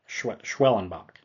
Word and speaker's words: Schwellenbach: I believe that's how you pronounce his name. Yeah, Schwellenbach.